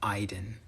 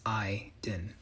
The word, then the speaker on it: Aydin: of you guys are pronouncing me as my name is not it's the a y makes an i sound so it's i din and no i'm not